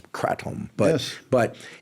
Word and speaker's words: kratom: I think the proper pronunciation is kratom.